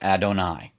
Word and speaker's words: Adonai: And that's how you pronounce Adonai.